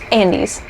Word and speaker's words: Andes: Andes, like the mint.